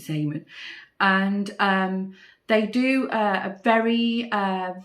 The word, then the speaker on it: Zeeman: We have a local sort of budget kind of store here in the UK, in the Netherlands, called Zeeman or Zeeman. You pronounce it Zeeman.